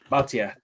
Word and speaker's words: Bhatia: and I think my sleeper is probably Akshay Bhatia, or how you pronounce his name. Or Kim. Kim's looking good. Akshay I don't know how to say his last name. Bhatia.